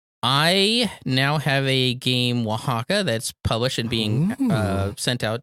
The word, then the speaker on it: Oaxaca: today it's so pretty it's spelled a walk sicko yes it's it sounds like a space science fiction game set in southern Mexico its Oaxaca it's a cardan dice